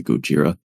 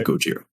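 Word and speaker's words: ゴジラ: Anyone find it weird how white people say Gojira?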